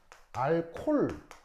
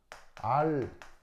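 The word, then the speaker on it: alcohol: 그러니까 우리가 알콜 이렇게 이제 발음하는 건 콩글리시예요. 콩글리시 알겠죠? 조금 더 원어에 가깝게 발음하려면 알코홀 아시겠죠?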